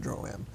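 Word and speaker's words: Droaam: huh I don't know two people said it differently I I always look at it like a like a like your home like it's like your home kind of thing um where where it's like if you're from there then you're allowed to call it droam but or drum sorry but if you're not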